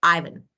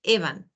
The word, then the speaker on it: Ivan: So in British and American, you know that there are different. So what you said, Ivan, was definitely correct. We say Ivan. This is American. British, Ivan. So your choice how to pronounce.